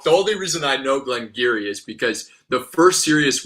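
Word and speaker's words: Glen Garioch: And then Craig Ellicky and then Glen Geary. Yeah. Glen Geary.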